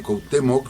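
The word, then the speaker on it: Cuauhtémoc: fue enterrar de hecho este cuautemoc son tres sílabas y necesitaba tres sílabas para hacer la rima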